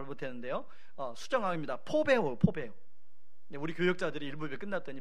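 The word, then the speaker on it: φοβέω: 이것을 포베오, 제가 일부 예배 때는 제가 이걸 발음을 잘 못했는데요, 수정합니다. 포베오. 우리 교역자들이 일부 예배 끝났더니 목사님 이 단어입니다 이렇게 알려주셨어요. 감사합니다. 포베오.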